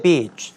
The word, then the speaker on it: beach: 이때 beach, 발음 정말 길게 하셔야 된다는 거 명심하셔야 되겠는데요.